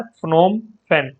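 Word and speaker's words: Phnom Penh: बड़ी अजीब सी कैपिटल है, ठीक है, इसको प्रोनाउंसिएशन कर लेना। ये है फ्नोम फेन, ये कैपिटल है कंबोडिया की।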